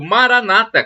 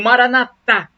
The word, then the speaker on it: Maranata: de Jesus o aramaico Maranata como dizem os protestantes com a tônica na penúltima sílaba ou Maranata como dizem os católicos o a tônica na última sílaba o significado é o